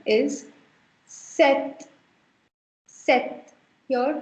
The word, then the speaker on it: sept: 7 is set. Set. Here, please notice that I am not sounding the P in the center. You don't call it sept.